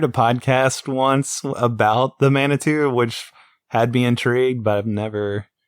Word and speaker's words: Manitou: Yeah, it's the Manitu. That's how you say it. That movie sucked though, man. It was stupid. I heard a podcast once about the Manitou, which had me intrigued, but I've never actually watched that movie.